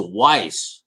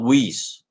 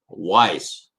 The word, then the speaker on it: Weiss: they're spelled the same it's a weiss correct and not whis weiss that's what i talked